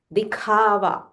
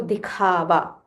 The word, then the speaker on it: दिखावा: Dikhava. The kha is Mahaprana. So dikhava.